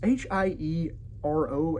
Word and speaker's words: Hiero: major king of Syracuse, Hiero Hiero the Second. It's h i e r o, and air is pronounced like that, so I'm just going to say Hiero.